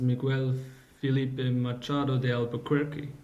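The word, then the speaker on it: Miguel Filipe Machado de Albuquerque: So these were the name of the president's Miguel Felipe Machado de Albuquerque. Am I pronouncing this right?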